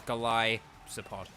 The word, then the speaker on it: Golisopod: hang on golisopod sorry I always have to think twice about golisopods pronunciation because it's like Goliath and then whatever kind of pod it is um but um but yeah it's kind of like Goliath and so it's galai support um but there we